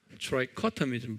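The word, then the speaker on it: trichotomism: 트라이코토미즘 한번 발음해 보세요. 액센트가 커에 있어요.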